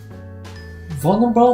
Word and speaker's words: vulnerable: change vulnerable vulnerable might be a little difficult to pronounce but it comes easier if you can remember the first syllables vote vo vulnerable is an adjective